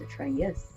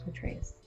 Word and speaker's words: Atreus: I thought his name was Atreus. Atreus. Well, it could be pronounced either way. I've heard it both ways.